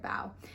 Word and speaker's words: bao: lets us know that bow is pronounced like to give someone a bow and not like bow like the kitty is wearing here is Amy looking